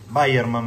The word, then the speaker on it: Weyermann: Weyermann, mejor dicho, vamos a empezar a hablar bien. No sabía cómo se pronunciaba. Pilsner Weyermann.